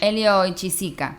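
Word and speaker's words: Hélio Oiticica: Eh, creo que en portugués se pronuncia mucho más bellamente. Elio Oichiica. Elioisica.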